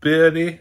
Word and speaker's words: Boehly: consortium headed up by Todd Boehly or Boehly and Hansberg of Weiss. I hope it's not Burley. Some people pronounce it Burley, some say Boehly.